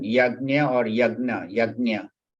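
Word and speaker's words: यज्ञ: Yagnya or yagna, yagnya. Actually, the correct pronunciation is yagnya, but yagya is easier to pronounce.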